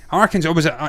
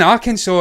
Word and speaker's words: Arkansas: separate they're fractures and that little more console arkansas arkansas sorry i keep saying nebraska because i'm